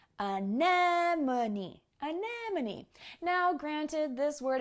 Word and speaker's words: anemone: to say anemone anemone it's not obvious based on the spelling of the word and unfortunately english doesn't make use of accent marks the way spanish or other languages do so you just have to hear the word and remember how it sounds but speaking of accent